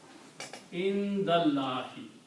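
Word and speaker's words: عِنْدَ اللَّهِ: So, when you combine these two together, it will be pronounced with kasra, indallahi.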